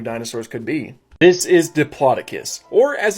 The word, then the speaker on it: Diplodocus: This is Diplodocus, or as it's sometimes pronounced, Diplodocus.